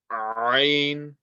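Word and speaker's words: ع: Ain, ain, ain. This sound comes from the middle of the throat and has the same makhraj as ha.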